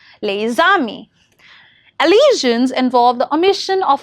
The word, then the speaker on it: les amis: For example, les amis is pronounced as les amis, where the sound links with the final s of the lay and with the vowel sound of the beginning of the word ami, that is a, les amis.